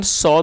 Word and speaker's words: saw: दोस्तों ये जो वर्ड है SAW कई लोग इसको सा पढ़ते हैं जो कि गलत प्रोनाउंसिएशन है। तो जो SAW सबसे पहले आप इसकी प्रोनाउंसिएशन को करेक्ट कीजिए। SAW को सॉ पढ़ना है, सॉ।